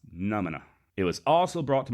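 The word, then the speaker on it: Nʉmʉnʉʉ: In that same episode, I horribly butchered the traditional name of the Comanche. I kept referring to them as Nermina. And I believe, and I'm probably still getting it wrong, but I believe it's pronounced Numina.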